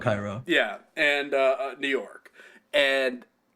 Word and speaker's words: Cairo: In Cairo, or Cairo, but it's Cairo, but it's spelled Cairo.